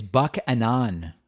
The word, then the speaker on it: Buchanan: Oh, I pronounced Buchanan wrong. It's Buchanan. Oh my God, that's horrible.